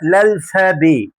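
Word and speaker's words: alphabet: بالفرنساوي اسمها الفابي، اللي هي الف باء بس احنا ما بننطقش التاء، فاسمها الالفابي. الالفابي فرنسي اللي هي الحروف باللغه الفرنسيه.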